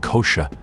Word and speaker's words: kosher: to Jewish law is called kosha originating from the ashkanazi pronunciation of the Hebrew word casha meaning fit or proper many laws prohibit the